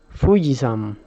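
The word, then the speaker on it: ふじやま: siguiente palabra pues no no tiene acento marcado prácticamente todas las sílabas se pronuncian igual es como muy plana esta palabra y se lee fuji yama buji sham luis sanz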